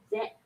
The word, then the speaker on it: ぜ: ぜ、 It is now pronounced as ze, ぜ、 se, せ、 ze, ぜ、 se, せ、 ze.